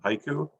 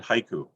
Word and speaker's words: haiku: for a second um how many syllables in the word haiku two two it's not a trick question um in japan however it's three what they say is actually hike they swallow the u at the end even